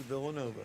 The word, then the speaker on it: Villanueva: Villanueva on the drag. He's looking for pay dirt. He pronounces it Villanova. Villanova, just like sir.